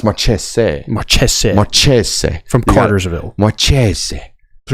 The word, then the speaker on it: Mares: Now, how would you like to pronounce Brady's last name? Georgia got to commit out of Carterville. Brady Mares from Carterville, Georgia. From everything I've heard, it is Marques.